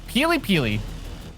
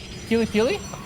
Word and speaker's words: PiLiPiLi: The way you're saying it, I swear it sounds like PiLiPiLi, like peel a banana kind of thing, which I'm like, what?